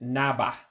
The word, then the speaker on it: na-agba: Notice I didn't pronounce it as na-agba. I said na-ba.